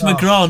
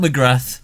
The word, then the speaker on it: McGraw: pronouncing joe surname wrong it's mcgraw not mcgrath is it i prefer mcgrath though joe we're not clapping